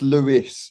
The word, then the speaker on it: Louis: It's Lewis. I pronounced it, yes.